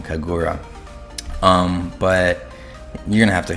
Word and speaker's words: Kagura: To do that, your DPS will have to be a higher speed than your Kaguya, but oops, keep saying her name wrong, Kagura.